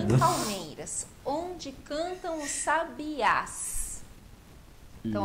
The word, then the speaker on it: sabiás: Palmeiras onde cantam os Sabiás Por que que só sabias ficou forte a última sílaba S os outros todos